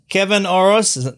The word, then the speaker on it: Kevin Orosz: Kevin Orosz. That's how you say it, Kevin Orosz?